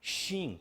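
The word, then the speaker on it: שין: Esta forma chama-se sim, conforme está aí na apostila. E essa aqui chama-se shin, com SH.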